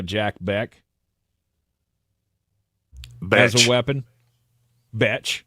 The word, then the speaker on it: Bech: Betch. Yeah, his name is actually pronounced how it's spelled.